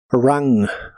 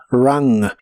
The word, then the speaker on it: rang: pasado participio es rang la u de esta palabra se pronuncia como una a corta y explosiva de español rang rang y equivale a sonado